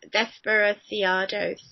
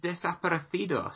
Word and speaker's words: Desaparecidos: The dude from Bright Eyes band, Desperaciados. Can you say that band's name? Is it Desaparecidos? Yes, there we go, that band.